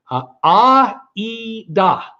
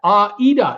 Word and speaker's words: Ada: Ada is an Italian name and always pronounced Aida. Aida. Repeat that. Aida, and say it like a pro.